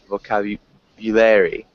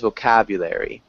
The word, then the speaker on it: vocabulary: the only small thing it sounded like you emphasized for you vocabulary um we would emphasize vocabulary vocabulary vocabulary vocabulary good vocabulary nice